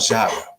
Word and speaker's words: Shaka: Yes, Shaka Zulu.